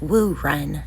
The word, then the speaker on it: wu-jen: a character class called a wujan pronounced woo run in Mandarin they cast Elemental spells